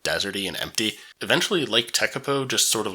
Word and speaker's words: Tekapo: of heading up North how would you pronounce this if you're Carolina and I then you're probably thinking takapo apparently it's tekapo and that's exactly where